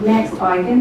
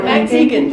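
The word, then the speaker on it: Max Igan: And Max Eigen was talking on there from Australia. Most of you know him. Who was? Max Eigen. Oh, Max Egan. It's Egan. I've been saying it wrong all the No, not time.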